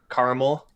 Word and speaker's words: caramel: I know how you like caramel. I should have said caramel. Sorry, disappoint you two, Liam and Keith. But Well, there is an extra vowel in it, so you might as well pronounce it.